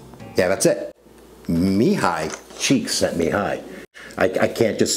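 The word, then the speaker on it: Csikszentmihalyi: Mihai cheeksy mihai. Yeah, that's it. Mihai cheeks at mihai.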